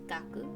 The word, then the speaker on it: 学: next we have student the first kanji is pronounced gaku and the second say